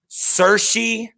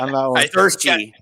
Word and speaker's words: Saoirse: I'm gonna look here and make sure I'm pronouncing her name right. Saoirse Ronan. I got corrected by Christy today. Yeah, Saoirse, I believe, is how I eventually found how to spell her name today.